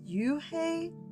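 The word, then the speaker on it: Unhei: no then I corrected it's spelled u-n-h-e-i is pronounced oh it's you hey the boy said like you hey what about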